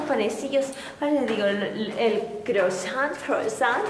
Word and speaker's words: croissant: Ahora le digo, el croissant. Y mi esposo, no, me dice, no lo estás diciendo bien, se dice croissant.